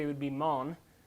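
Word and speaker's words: מן: It comes from we would actually pronounce the word correctly, it would be mon. We would maybe spell it like lawn, but with an M, mon.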